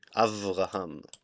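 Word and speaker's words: אברהם: So first in Hebrew it it pronunciation it would be with a V. Abraham.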